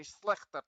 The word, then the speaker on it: Schlichter: to you guys so it's supposed to have a good real sound at the end schlichter test all right so i'm waiting for you guys to say i'm waiting for someone to say schlechter test but everybody said snicter so very filipino guys